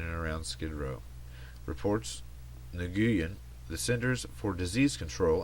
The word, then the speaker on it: Nguyen: Jeff Nguyen, I see this name at work and I still have no idea how to pronounce it. One day I'll figure it out. It's Nguyen.